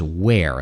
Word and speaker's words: where: where and were so the first one is where like where are you air where it's like air like uh we breathe